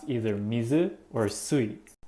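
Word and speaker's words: 水: would be pronounced either mizu or sweet the way you pronounce the kanji character depends on the word for example this character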